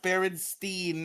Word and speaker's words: Berenstain: It's not Berenstain. Yes, It's pronounced Berenstein, and I remember it very clearly.